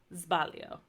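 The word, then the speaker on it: sbaglio: a regular s but then you have like zbalio so it said more like a z okay which that Tick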